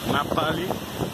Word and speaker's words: Ngapali: Essa praia aqui, Nigapali, que na verdade eles pronunciam Napali, e daí esse nome vem de Nápoles, na Itália.